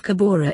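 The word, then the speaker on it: Cahora: going in this interview the word kahara is used instead of kebora in the name of the giant dam project in mozambique framo uses kahara because it more closely approximates the local people's pronunciation of the site interviewer since you began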